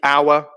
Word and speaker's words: hour: So Jesse, hour. Yep, the silent H in hour, absolutely, is a key one.